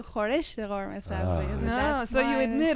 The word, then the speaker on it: khoresht: But is khoresht easier to say than khoresh? Like if the argument is we're saying the easier thing, it's not easier. It's just what we're used to.